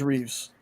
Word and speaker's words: Reeve: Sean did say it right, but I just want to let people know if there's an S in the first name, there's no S in the last. So, it's Christopher Reev, George Reeves.